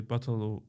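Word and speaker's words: Bahtalo: it's similar like Bachtalo, but we just say Batalo with H, but we don't pronounce it so much. So yes, we say Batalo Romano Dive.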